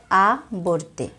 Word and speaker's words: আবর্তে: এই শব্দগুলোর মাঝখানের অক্ষর ওকার সহযোগে উচ্চারিত হবে।